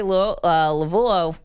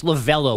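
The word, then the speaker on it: Lavelle: and it was Terry Lavulo. I never pronounce his name right. Anyway, it's his fault. It's Lavello, but there's a U in there that you don't pronounce and it throws you off.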